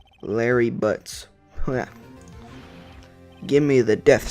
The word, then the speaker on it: Butz: unlucky sap dating her Larry Butz kind of rhymes with Harry but that my best